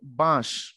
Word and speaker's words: বাঁশ: করি তখন হয় বাঁশ যখন চন্দ্রবিন্দু দিব তখন তার উচ্চারণ হবে বাঁশ তাহলে চাঁদ বাঁশ এই